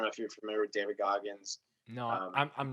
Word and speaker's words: David Goggins: David Goggins. Okay, David Goggins.